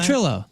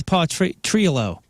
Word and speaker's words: Potrillo: or Potrillo? He says it's Potrillo.